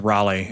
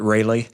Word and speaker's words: Raleigh: up in the phone and pronounced it Rayleigh. I was like, that's kind of a dead giveaway. We got to pronounce the name right, and I feel like Raleigh's a pretty well-known city, so let's get that one right.